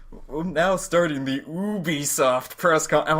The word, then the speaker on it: Ubisoft: like, now starting the Ubisoft press conference. I'm like, wait, what? Oh, shoot, I've been saying that wrong all these years. They're a French company, so that's probably the French pronunciation of it.